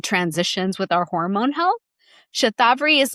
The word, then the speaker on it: shatavari: We pronounce it shatavari here in the west, shatavari.